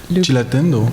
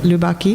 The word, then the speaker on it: Lubaki: She says, the commissioned works by, how do you say his name? Cilatendo? No, not Cilatendo. Lubaki? Lubaki.